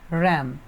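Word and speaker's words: rhythm: एंड चटिंग द रम। रैम है ना रिदमम। आर एच वाई एम इसको क्या बोलते एच साइलेंट है।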